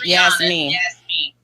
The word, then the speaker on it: Audriana Yasmeen: But, anyway, your name is Audriana Audriana Yasmine. Yasmine. Am I Am I pronouncing it right? Yes. Audriana Yasmine.